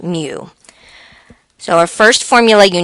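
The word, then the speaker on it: μ: It looks like a U, but it's pronounced mu.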